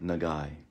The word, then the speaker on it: 長い: the hilagana symbol okay basically this is like a letter i okay it's pronounced e nagai like this nah